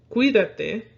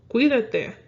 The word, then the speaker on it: cuídate: That I is not going to be broken up from that U. But what it does is going to make sure you know that you're going to focus more on the qui part of cuídate.